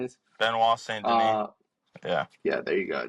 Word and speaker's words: Benoit Saint Denis: It's Patty and fucking being at Saints Denise, whatever the fuck his name is. Benoit Saint Denis.